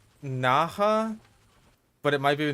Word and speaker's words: Naja: I think it's pronounced... Naja? But it might be Naja.